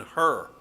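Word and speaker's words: Hur: moses hands that was aaron and her not h-e-r uh but h-u-r you saw him in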